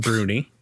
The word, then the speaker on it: Brownie: It's spelled one way, but it's pronounced a different way. So it's spelled like the word brownie. Ooh, like delicious. everyone's favorite dessert. Ooh, I'm hungry now. Oh, yeah. But it's pronounced bruni, I think. Brownie or bruni.